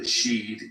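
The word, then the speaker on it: sídhe: Thus, the she, or the sheed in Old Irish pronunciation, means something like the resting place, with a possible connotation of graveyard.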